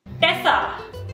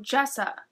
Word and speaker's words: Jessa: related to your computer Jessa Tessa no Jessa oh okay how do